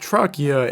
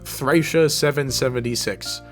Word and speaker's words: Thracia: It has katakana that reads Torakia, so I assumed based on this information that it would be pronounced Trachea in English. However, there is a video of Fire Emblem Heroes characters saying the names of every mainline game, and yeah, they pronounce it Thracia 776.